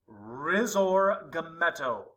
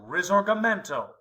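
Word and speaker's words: Risorgimento: his historic greatness and this renewal is pronounced rizor GTO so rizor gento is this movement he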